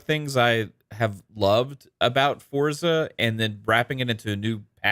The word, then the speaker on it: Forza: And the other thing that's exciting about Forza is, sorry, I know I'm saying it wrong, everybody. I know Pong is too. It's Forza. Forza. Yes, I know how to pronounce it.